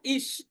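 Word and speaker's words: ich: যেমন ইস, যেমন ইস, এই যে দেখেন আয় আছে, তার কারণে এর উচ্চারণটা হলো ইস।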